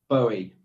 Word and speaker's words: Boughey: go to newmarket george barry joins us on the line that is how i pronounce your name george isn't it bowie bowie um yeah pronunciation is